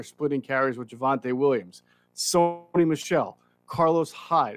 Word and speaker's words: Sony Michel: sony michelle carlos hyde or is it sony michael i might get that name wrong it might be something you were right the first time oh okay sony michelle there you go um so there